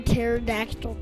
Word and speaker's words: pterodactyl: Mom, do you know why you can hear pterodactyl pee? No, why? Because the P is silent.